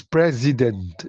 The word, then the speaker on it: president: The S carries Z sound as in was w A S as in boys. B O Y S as in because you know those are words that have S but the S carry carries a Z sound.